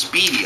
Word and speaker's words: Spiedie: says it says the term Spidey but it's pronounced Speedy I guess comes from the Italian SPO SPO